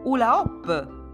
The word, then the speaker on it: hula hoop: Oppure hula hoop. Ci sono due H che si scrivono, ma non si sentono.